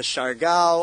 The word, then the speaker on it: Siargao: You can go to Siargao.